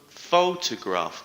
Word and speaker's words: photograph: the second syllable sincere photograph the stresses on the first syllable however we say photography